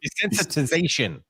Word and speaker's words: desensitization: ] that here's the thing yeah go ahead desensitization desensitization here's the thing H if you haven't